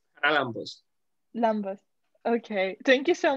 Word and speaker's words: Charalambos: Charalambos for being with us. Oh, sorry. How do you say it? It's Charalambos.